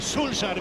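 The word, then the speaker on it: Solskjær: Po drugiej stronie barykady Ole Gunnar Solskjaer, Solskjaer, wiadomo, tak się go wymawia właściwie po norwesku, ale on jest dla nas Solskjaerem, niech już tym Solskjaerem zostanie.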